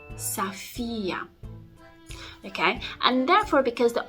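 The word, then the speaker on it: София: say Sofia Sofia when the stress needs to go on the second syllable so on the E on the vowel e saphia safia okay and therefore because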